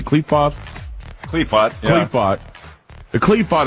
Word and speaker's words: Qliphoth: Is the Qliphoth, how do you say Qliphoth?